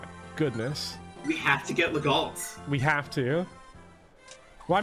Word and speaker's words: Legault: Stop, Legault is pronounced Legault, like Renault.